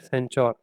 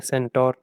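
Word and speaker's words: Centaur: और half human और half horse, उनकी जो होगी बॉडी होगी, इस तरीके की बॉडी को हम बोलते हैं सेंचौर या सेंटोर। ठीक है, अलग अलग प्रोनाउंसिएशन हो सकते हैं लेकिन फीलिंग वही है।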